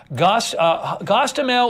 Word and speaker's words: Hostomel: Gostomel, or I think it's Hostomel, it's spelled different ways, Air Base, a cargo